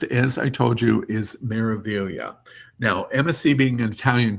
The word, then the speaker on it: Meraviglia: This is pronounced Meraviglia.